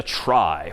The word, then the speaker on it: trie: this one pictorially for the most part and that's known as a try which is somehow short for retrieval even though that's pronounced somewhat differently but try just means it's a data structure for retrieving data.